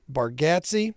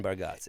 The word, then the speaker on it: Bargatze: I'm just saying that back in the day, it could have been Bargatze. It's Gatsy. Look, it's Gatze. I get that. Gat, not Go.